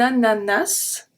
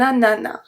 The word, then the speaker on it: ananas: Now I have two different words with two different pronunciations. They are both right, they are both correct. It just depends on the area. So the same word, a pineapple, but sometimes we're going to pronounce the S at the end, sometimes we're not going to pronounce it. So you can say un ananas, or you can say